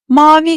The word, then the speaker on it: mavi: And while we're at it, let's also take a look at how the word ‘mavi’ is pronounced. Listen, the letter 'a' is pronounced softly although it doesn't use the hat.